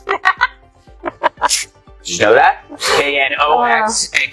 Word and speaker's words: Knox: The interesting thing about four knots is that the K is silent. Did you know that? K N O X and K stands for